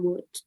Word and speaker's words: would: Kalau misalnya ke orang yang lebih tua bisa menggunakan would. Gitu. Would ya, nggak would, nggak ada L-nya. Jadi L-nya itu silent.